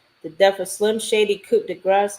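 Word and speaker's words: Coup de Grâce: the death of Slim Shady, Coup de Grace. I actually had said it wrong earlier. I said Coup de Carte.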